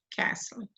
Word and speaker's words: castle: The L is not pronounced, castle.